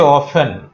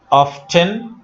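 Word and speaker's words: often: সেন্টেন্সে অফেন, অফটেন, অফেন দুইটা উচ্চারণেই গ্রহণযোগ্য। ব্রিটিশ এবং আমেরিকা উভয় ইংলিশেই এই শব্দটা অফেন এবং অফটেন উভয়ভাবে উচ্চারিত হয়।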